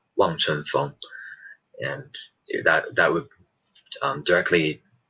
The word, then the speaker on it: 望春风: And the Chinese pronunciation that would be "Wang Chun Feng" (望春风).